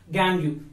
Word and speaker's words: gangue: The impurities we have to pronounce as gangue.